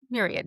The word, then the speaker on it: myriad: Myriad uses. I always say my but it's myriad.